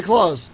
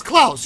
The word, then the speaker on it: Klaus: hey claws question is your name claws or Klaus Klaus yeah that's how you never told me that I've been mispronouncing your name for the last like two years I mean people like I guess depends on you know language and stuff no no no no it's clouds you should have told